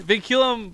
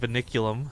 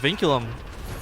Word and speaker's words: Vinculum: versus vinculum all right vinculum by the way very annoyingly difficult team name to pronounce cuz I want to just call it vulume okay okay well